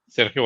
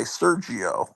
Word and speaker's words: Sergio: Serio Aragon you got to slow down.